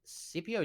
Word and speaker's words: Scipio: Hyde is going to be the first to take Scipio down, or Scipio, as we found out his name is pronounced, and end his life.